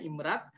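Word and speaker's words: IMRAD: Nah ini pola-pola riset yang umum, sebenarnya ini standar internasional ya, IMRD ini, IMRAT ya, nyebutnya bacanya IMRAT.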